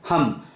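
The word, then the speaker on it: ham: Throat chakra is HUM, HUM, H-A-M.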